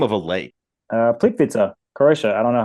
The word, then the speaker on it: Plitvice: Plitvice. Plitvice. Plitvice. Like pizza.